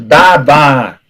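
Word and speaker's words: דבר: Por exemplo, davar, né? Que é palavra, né? Davar. Então você vai juntar o D com A, né? O Dalet A, e o Beit com A. Vai falar davar.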